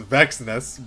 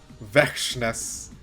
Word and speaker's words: Vexness: Okay, that's not how I thought you would pronounce that. I thought it was Vexness, but Vexness.